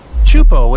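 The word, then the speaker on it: Teahupoʻo: Chupo in Tahiti also has some of the heaviest waves in the world, breaking over a shallow reef and creating intense barrel rides.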